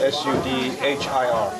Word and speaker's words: Sudhir: How do you spell that? S-U-D-H-I-R.